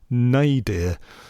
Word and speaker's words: nadir: Apparently, to speak the word correctly, it's pronounced nay, dear.